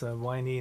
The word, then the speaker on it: Viney: It's Viney, not Vini, as I've been pronouncing it.